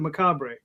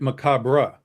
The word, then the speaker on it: macabre: And the British the British dude pronounced it macabre. Well, and I've heard it Macabra. Oh, yeah. Yeah. I hear that all the time. Macabra. I never in the US is pronounced Macab.